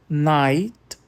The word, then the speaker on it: night: Primeiro, a gangue do IGHT. Light, night, sight. Aqui o GH é sempre mudo e o I é sempre longo.